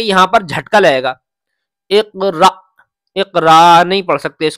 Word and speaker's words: اقرأ: بسم ربک الذی خلق۔ اس کے ہجے میں بتلاتا ہوں۔ حمزہ قاف زیر اق، را حمزہ زبر را، اقرأ، یہ والا جو الف ہے یہ حمزہ ہے، یہ حمزہ پڑھا جائے گا، الف نہیں، را حمزہ زبر را۔